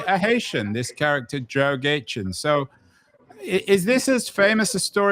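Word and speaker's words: Gaetjens: How do I pronounce the final name? Gaëtjens? Gaëtjens, a Haitian footballer.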